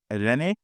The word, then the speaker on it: Irene: And so today I have my special guest, Irene.